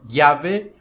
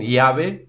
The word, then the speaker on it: llave: Y, ou letra Y, pode pronunciar-se de maneiras diferentes dependendo da região em que ela se fale. Por exemplo, llave ou sello, como se fosse um LH, ou llave ou sello, como se fosse um I, ou llave, sello, como se fosse um DJ, ou chave, sello, como se fosse no Uruguai e na Argentina.